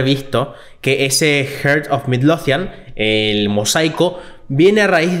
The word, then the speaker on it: Midlothian: un corazón, justamente, basado en el Heart of Mildonian, que el corazón de Mildonian sería la traducción. ¿Midlothian? Un mosaico. ¿Midlothian? ¿Cómo? Creo que es Midlothian. Lo pronuncié mal. Puede pasar. Es Midlothian.